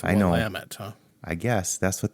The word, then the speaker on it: Willamette: Yeah, I always thought it was Willamette, but it's I know. Willamette, huh? I guess that's what the locals say, according to the internet.